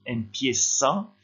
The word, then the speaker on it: empieza: Vous faites attention, le Z ici se prononce comme un S, empieza, et ici il faut lever la voix sur le I, línea.